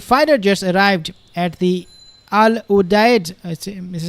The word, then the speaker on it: Al Udeid: So Qatar US FF-22 fighter jets arrived at the Al Udeid, this is how you say, air base near Doha.